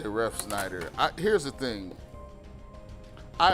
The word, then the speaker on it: Refsnyder: listen he's gonna say ref Schneider I here's the thing I have never heard of ref Schneider and I've never seen this spelled that way it's like a ref and then Snyder's potato chips I don't know but